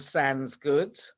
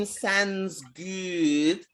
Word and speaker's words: Sandsgoood: I love the sound of Sandsgoood. Oh, no, you have to say it properly. Sandsgoood.